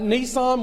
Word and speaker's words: Nisan: Nisan with only one S. Nisan. Not like the car.